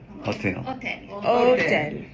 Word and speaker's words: hôtel: H Hôtel. Silent letter. Hôtel.